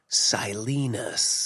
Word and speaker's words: Silenus: thought was quite fascinating was how he Martin selinus selinus or whatever the it is selinus oh my God you know how they say it in the audio book how silenus oh that oh it's so